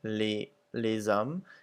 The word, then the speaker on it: les hommes: So you'll see that the S's are pretty much not pronounced at the end of the words, except for les hommes, where it makes a Z sound.